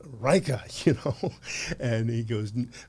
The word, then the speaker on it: Leica: These these these Lisas?" And the guy goes, in, you know, a heavy accent. He's like, "You're saying it wrong. It's Reicha," you know, and he goes, "Very expensive, very complicated.